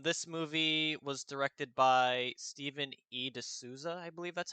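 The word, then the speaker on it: Steven E. de Souza: you ask um this movie was directed by stephen e de souza i believe that's how you pronounce his name yes stephen d souza he is best known he's more he's better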